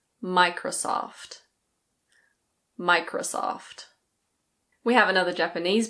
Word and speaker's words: Microsoft: Next we have Microsoft. In British English: Microsoft. Microsoft. It's not "micrO-soft". It's Microsoft. In American English the last O is a little bit different. It's Microsoft.